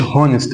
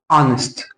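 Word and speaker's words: honest: تاخد ايه ا هنا الاتش سايلنت ما بقولش هونست بقول انست انست ايه ا اه ا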